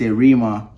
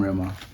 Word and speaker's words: Rema: proper native Hometown accent Rema a lot of places I go to this arima ayorima Rima oh yeah I'm Rema that's how you pronounce it Tom from Trenton